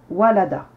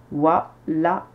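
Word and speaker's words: وَلَدَ: trois syllabes wa la da trois syllabes au son cours donc pas besoin de rajouter des lettres de prolongation wa c'est la lettre wa avec la fatha la c'est la lettre lam avec la fatha da c'est la lettre del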